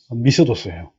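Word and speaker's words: μισθός: 발음은 미스도스예요. 헬라어는 미스도스인데 밑에 뭐라고 나왔죠?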